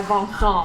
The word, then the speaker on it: Vincent: so that's just like that's just like Vincent but pronounced with a French accent my parents are frch